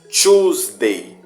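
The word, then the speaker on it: Tuesday: mas vamos ler como Shoes Day Shoes dei não tem one two numeral pronto nós vamos ler o início da frase como se fosse o numeral 2 tá certo aí vai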